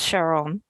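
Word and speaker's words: Charon: here man his name in the film is pronounced Cheryl but it's spelled Caron Karen the ferryman and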